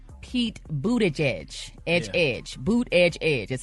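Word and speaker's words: Buttigieg: us Transportation secretary Pete boot Edge Edge Edge boot Edge Edge that's how you pronounce his last name an online fashion giant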